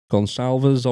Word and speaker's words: Goncalves: to Kayleigh gong Calvers gonzalves I've been told that's pronounced he has spoken to